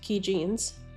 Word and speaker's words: Kijin: just over 100,000 USD uh key jeans pronounced key jeans um was a medical